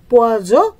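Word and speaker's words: poison: তাহলে আমি এখানে যখন এস দুইটা দিয়েছি, পোয়াস লিখেছি যেটার অর্থ হলো মাছ, আর এইখানে একটা এস দিয়েছি যেটার উচ্চারণ হবে জ, পোয়াজ যেটার অর্থ হবে বিষ।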